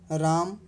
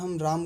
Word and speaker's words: राम: जा रहा है कि व्यंजन में अंतिम सफर होने का कारण भी उच्चारण नहीं होता जैसे राम राम बड़ा प्लाज्मा प्लस छोटा आ फिर भी हम इसे राम ही पड़ते हैं इसका उच्चारण राम भी करते हैं ना कि रामा ठीक है तो दोस्तों